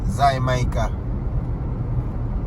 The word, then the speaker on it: Jamaica: Zy Mica. That's how the Spanish pronounce Jamaica.